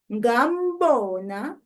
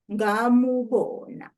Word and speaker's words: ngambona: You will hardly ever hear people pronouncing and enunciating the u of the object concord mu in spoken language. So you just hear ngimbone instead of ngimubone, ngambona instead of ngamubona.